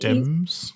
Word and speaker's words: Thames: Um, okay, on Paris we have like the Thames or Thames. I don't know how you pronounce it in English, but the thing is Thames.